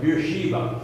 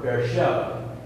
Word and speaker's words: Beersheba: our succession of the city of Beersheba or Beersheba both pronunciations you see that the